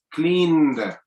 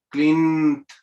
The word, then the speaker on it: cleaned: Cleaned. Cuando termina con voiced, se va a pronunciar con una D. Touch yourself. Cleaned. Cleaned.